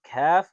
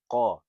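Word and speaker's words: كاف: It's pronounced kaf, not qa. You have to know the difference between these two letters to pronounce it correctly.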